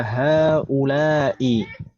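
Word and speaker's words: هؤلاء: Di sana pertama ada haula'i. Cara bacanya seperti itu, haknya panjang Ibu sekalian, haula'i.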